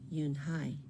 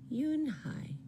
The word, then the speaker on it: Yunhee: "Yes, it's pronounced Yunhai. And it means grace," Mr. Kim added. "Yunhai," Joey said slowly, and this time perfectly.